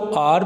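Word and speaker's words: hour: ये सबसे interesting sentence मुझे लगा है, क्योंकि आर जो है इसके अक्सर लोग हार पढ़ते हैं, वो प्रोनाउंसिएशन गलत है। दूसरी बात ये कि इसको आर पढ़ना है, और साउंड चेक करें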